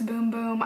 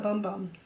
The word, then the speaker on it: Bum Bum: amazing I like the bum bum a little bit better and I know it's boom-boom I think that's the proper pronunciation but I love to call it bum bum is that bad on